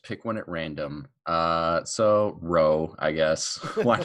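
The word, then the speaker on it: Rho: No, it's shaped like a P, but it's pronounced R.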